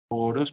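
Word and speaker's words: ὄρος: Oros parece como el dios Horus del Egipto.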